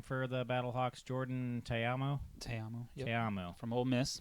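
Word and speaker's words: Ta'amu: Teamo.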